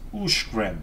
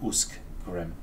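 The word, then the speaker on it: Uscgrim: Uskgrim is Ushgrim and not Uskgrim.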